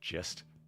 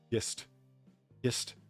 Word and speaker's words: gist: States' rights gist. Like a soft G was a Confederate. Gist. What do you see? Soft G would be J, right? So gist.